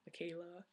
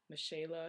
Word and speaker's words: Michela: because like the CH like my name name it also has a CH that's pronounced a k Michela it's it's not Macha or Micha so I'm I'm going